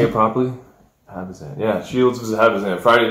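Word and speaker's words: Habazin: Habazan. Yeah, Shields versus Habazan. Friday night. We can't even pronounce this girl's name.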